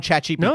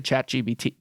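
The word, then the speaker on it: ChatGPT: You got a limit on chat GPT? Oh, I can I can speak to chat GBT.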